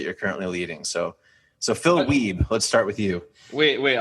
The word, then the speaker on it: Wiebe: Hence, I say my name Wiebe, not Wiebe.